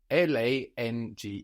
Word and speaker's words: lang: German long is l l a n g e and this NG G that is falling on the end of the syllable is like the English ing Lang we don't have a hard G sound Lang good have